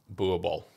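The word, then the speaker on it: Boerboel: overlay that now yeah so it is b-o-e-r-b-o-e-l boo ball and uh yeah so just for context there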